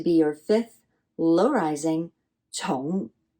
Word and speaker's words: 重: Now, important has a different pronunciation. Same character, different pronunciation. And that is your sixth low tone, 重, right? 重.